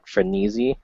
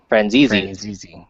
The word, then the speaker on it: Franzese: It's just under his name, Robert Franisi. Franzese.